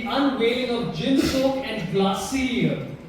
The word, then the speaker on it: Glacir: The unveiling of gin soak and glassy. Is that how you say it?